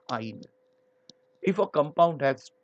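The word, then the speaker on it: yne: Similarly, for double bond, it is ene, triple bond, it is ine, Y-N-E, pronounced as ine.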